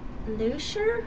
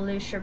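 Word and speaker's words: Lüscher: This time, the book is by Dr. Luscher, I believe it's pronounced, because there's a umlaut over the U.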